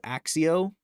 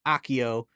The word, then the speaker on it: Accio: So Stephen Fry in Goblet of Fire says Axio, where Jim Dale says Accio. Guess what we use? We use Accio.